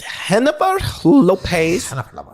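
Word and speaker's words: Jennifer Lopez: that's right eric cartman's hand puppet's name is pronounced hennapar lopez inside you're the star pictures of elton john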